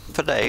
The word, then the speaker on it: filet: Filet is correct, the word. Pronunciation. Filet.